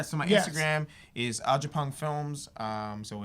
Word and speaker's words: Agyapong: Instagram is Agyapong Films.